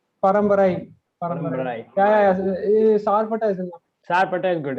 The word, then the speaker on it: Sarpatta: Dude, you should pronounce the name of the movie because we might fuck it up. Yeah, it's Sarpata Paramgara.